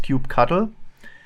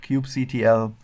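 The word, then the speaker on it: kubectl: the cube control command it is often pronounced cube cuddle I think what I will stick with that with that name but there are people calling that cube CTL so all of that is fine I don't have a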